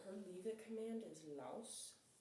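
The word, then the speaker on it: Los: So, her leave it command is laus o or l o s. Um and it's pronounced like it has a w in it.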